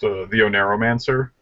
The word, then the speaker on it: TheOneiromancer: The name it's pronounced TheOneiromancer.